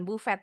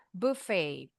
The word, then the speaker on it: buffet: Tapi bacanya bukan buffet. Kalau bahasa Inggris buffet.